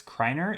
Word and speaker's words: Kreiner: I only know, so the only reason I would pronounce Kreiner as Kreiner is because I've been Duolingoing and taking German. And in the German course, I know that EI is the I sound.